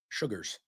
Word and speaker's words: Shugars: Saquon Sugars, spelled Shugars, Sugars.